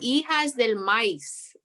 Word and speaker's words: Hijas del Maíz: And she was like, if you're Tejana, you're gonna say it right. And I said, okay. And she was like, Hijas del Maíz, de la maíz.